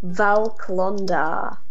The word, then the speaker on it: Val Klondar: it's spelled Val Klondar.